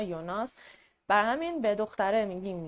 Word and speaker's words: Jonas: یونا تلفظ می‌کنن و این اسم رو هم یوناس حالا یا یوناس نمی‌دونم ولی از جایی که که دو تا کرکتر اصلی اسماشون این شکلیه ممکنه قاطی بشه هی من بخوام بگم یونا یوناس برای همین به دختره